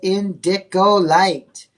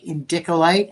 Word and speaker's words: indicolite: So, $9,800 indicolite.